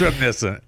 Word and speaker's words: reminiscent: Reinent. It's reminiscent.